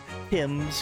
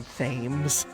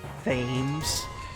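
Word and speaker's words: Thames: We we I was told how to say Tims correctly like the river Tims. I just like saying fames. It's clearly pronounced ths. I mean, can't you read? T H A M E S. It's either ths or thomez.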